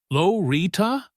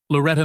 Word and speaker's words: Loretta: "Is it Lorita?" "Lorita?" He drew out each wrong pronunciation, making sure everyone could hear. "Loretta May Johnson," she corrected softly but firmly. "Like it's written there.